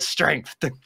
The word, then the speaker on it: strength: That's Let me tell you about our children and my great strength. See, strength though feels like two syllables. Strength. I mean, it's one.